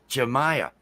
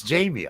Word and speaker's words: Jamia: The worst is Jamia, official Jamia, because I hear Jordan say it wrong all the time, Jemiah, and it's Jamia.